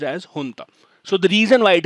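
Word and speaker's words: junta: as they are called in myanmar j-u-n-t is pronounced as hunter so the reason why it is in the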